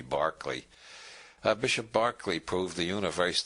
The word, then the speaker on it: Berkeley: of Berkeley is named because Americans don't know how to pronounce Irish names it should be Barclay Bishop Berkeley proved the